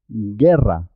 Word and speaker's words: guerra: una y una y una y juntas suena de ji ji ji guerra la y no se oye no se escucha la es muda en este caso guerra jeopardy guitarra águila